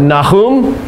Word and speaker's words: Nahum: of time that we have the ministry of Nahum that's how you say his name n can